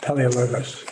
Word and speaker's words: Paleologos: Sincerely, Kate McGuire and Nicholas Paleologos. Is that how we pronounce that? Paleologos, yeah. Yeah.